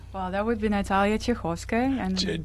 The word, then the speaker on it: Chekhovskaya: Pronounce the last name. Well, that would be Natalia Chekhovskaya. Chevolska?